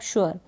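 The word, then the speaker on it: sure: अब इसको श्योर ऐसे प्रोनाउंस नहीं करेंगे, लिखा तो ऐसे गया बट इसको पढ़ेंगे आप श्योर, श्योर। क्लियर है। तो यहाँ पर श्योर, श्योर ऐसे पढ़ने लग जाए तो गलत हो जाएगा।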